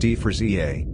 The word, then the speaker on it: Efraasia: ephrasia ephrasia pronounced d for za is a genus of basal sauropodamorph dinosaur it